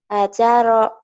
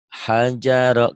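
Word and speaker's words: هَجَرَ: Ajaro. Hajaro. Kedengarannya kayak ajaro ya. Hajaro. Gitu ya.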